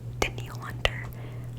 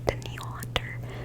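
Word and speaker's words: Danielle Hunter: B the Vikings um I always pronounce his name wrong but I'm pretty sure it's denal denil Hunter um spelled like Danielle which always confuses me a little bit but denal hunter the defensive lineman um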